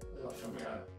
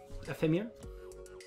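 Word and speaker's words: Éphémère: Ephemere. There's no L. Ephemere? Ephemere. Ephemere. It's okay. Sorry, I thought there was an L apostrophe, but there isn't.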